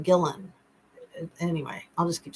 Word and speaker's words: Ghislaine: I'm saying her name wrong. I always say Ghislaine. It's like Gillen.